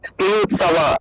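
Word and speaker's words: যুযুৎসবঃ: ইউৎ সাওয়া, এই যে শব্দটা আছে জুজুৎ সব, এটাকে ইউৎ সাওয়া, ইউৎ সাওয়া, সাওয়া এইভাবে উচ্চারণটা আসবে। অর্থাৎ বটাকে আমরা ঠোঁট না লাগিয়ে উচ্চারণ করবো, সাওয়া, সাওয়া এরকম উচ্চারণ করবে।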